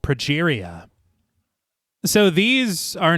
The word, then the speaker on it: progeria: And I did notice that in the film, Sarah says progeria, and that's not how you pronounce it.